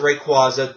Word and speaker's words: Rayquaza: Weather Trio of Groudon Kyogre and Rayquaza I pronounce it Rayquaza AA I don't want to hear any bitching